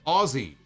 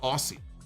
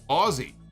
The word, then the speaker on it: Aussie: can I say that the way to to pronounce Aussie is Aussie less pronounced the s's please so I have been corrected it is not Aussie it is Aussie like Aussie Osborne all right Michael thank